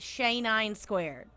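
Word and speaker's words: XAE9²: gets my name right it's x a e nine squared but you can just pronounce it shay nine squared state your affiliation your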